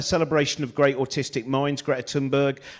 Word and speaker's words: Greta Thunberg: of great autistic minds, Greta Thunberg, or Greta Thunberg, I believe is the correct pronunciation, but if you say